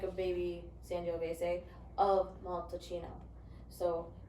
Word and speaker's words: Montalcino: There's Mon- Brunello de Montalcino, or Montalcino. Montalcino, you said it right.